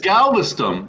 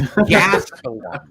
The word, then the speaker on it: Gastelum: Watch the fight against Galveston, where Galveston pieced him the fuck up. Buddy, you don't even know the guy's name. It's Gastelum, bro.